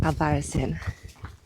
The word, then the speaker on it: Albarracín: I've just heard some Spanish people call it Albadin. So, it's pronounced Alvarisin.